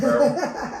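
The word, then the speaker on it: Maryville: Marville is how you pronounce it? Marvel.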